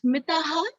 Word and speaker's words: Mithahara: The pronunciation is Mithahara.